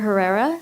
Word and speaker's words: Herrera: I'm a student at large hello I'm Herrera last name is h e r e r